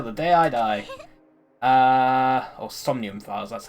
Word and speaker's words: Somnium Files: Or Somnium Files, that's how you pronounce it.